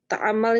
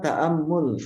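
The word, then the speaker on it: تأمّل: Apa arti ta'amal itu yang nomor 14 Ustaz? Ini bacanya ta'ammul, ini ta'ammul.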